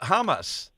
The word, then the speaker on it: Hamas: you say it uh hamus hamus it's it sounds like humus I didn't say hummus